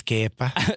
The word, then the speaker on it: Kepa: So Se dice Kepa.